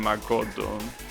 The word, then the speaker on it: Makoto: But I gotta understand that it's that name is pronounced Makoto. Doesn't have the stress in ma. It has it in... Wait, no, the opposite. It has the stress in ma. Not in ko.